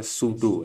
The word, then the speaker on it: pseudo: Ya, itu bacanya pseudo ya. P-nya ditinggal aja. Ya, cara bacanya P-nya jangan diikut-ikutin ya.